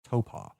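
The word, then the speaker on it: Taupō: paw tau e o toe paw how the locals pronounce it taupe ah this is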